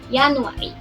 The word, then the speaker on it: januari: Jadi di depannya ada pakainya huruf Y, ya. Jadi, dibacanya Yanuari seperti itu.